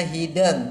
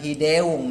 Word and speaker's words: hideng: Jadi bacanya hideng, bukan hideung ya, bukan hideung, tapi hideng.